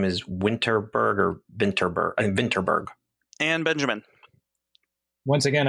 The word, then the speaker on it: Vinterberg: Moss Michelson fandom and try to pronounce it with a Danish accent and say this is Tomas vinberg oh that's much better than my pronunciation and as a filthy American Thomas vinterberg is correct um another round is